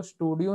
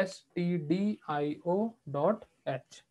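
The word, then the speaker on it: stdio.h: एसटीडी आईओ ड एच इसको स्टूडियो नहीं बोलते हैं ठीक है स्टूडियो की स्पेलिंग अलग होती है यह होता है एसटीडी आईओ डट एच ठीक है जिससे हम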